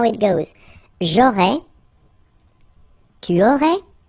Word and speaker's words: J'aurais: J'aurais, so final S, not pronounced. J'aurais.